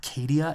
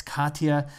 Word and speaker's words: Katia: never replaced by Katya it's not Katia it's Katya and so there's a